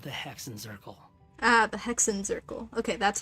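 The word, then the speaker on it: Hexenzirkel: the Mages of the hexen zerle ah the hexen zerle okay that's how you say it hexen zerle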